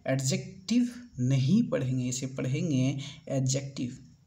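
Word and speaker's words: adjective: उसके बाद फिर एडजेक्टिव नहीं पढ़ेंगे, इसे पढ़ेंगे एडजेक्टिव। जो ए और डी के बीच में जब भी डी आएगा दोस्तों, तो ये एक हमेशा क्या होगा, साइलेंट होगा, ठीक है।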